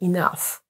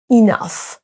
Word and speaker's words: enough: juste en le lisant ce mot ne se prononce pas nou ou quelque chose comme ça mais enough enough prenon ces trois mots maintenant qui ont un